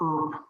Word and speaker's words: URP: So we also called them ERP switches, just pronounced the URP, the ERP switch.